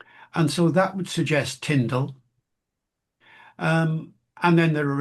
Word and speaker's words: Tyndale: I mean, the point is is uncertain, but yeah, I guessed he'd have said Tindle a lot of the time.